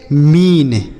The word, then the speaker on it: मीन: आगे लिखा है एम इ एन। इसे पढ़ेंगे मीन। एम इ एन मीन। समझ में आ गया ना? तो अगर इ के साथ ए लिखा रहेगा किसी भी शब्द में तो उसे हम बड़ी की मात्रा पढ़ेंगे।